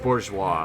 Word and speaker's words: Bourgeois: stature what of it it's pronounced Bourgeois for the record I don't care anymore